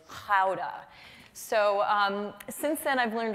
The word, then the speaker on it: Gouda: And the proper pronunciation is Gouda."